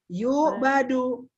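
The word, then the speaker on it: يُعْبَدُ: Yubadu. Depannya yuk, doma. Yubadu. Sebelum terakhirnya fathah. Asalnya kan doma. Ya budu. Asalnya ya budu, doma. Tapi ketika menjadi pasif, huruf sebelum terakhirnya berubah menjadi fathah. Sehingga dibacanya yubadu.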